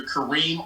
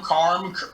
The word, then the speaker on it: Karim: little initial and i gotta spell it because folks of butcher my name i've been called karim karim karm carmel so it's kareem or they can type